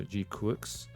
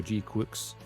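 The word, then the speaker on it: GQuuuuuuX: name in Japanese and it does sound like Quicks like Crux so G Quicks yeah qua is close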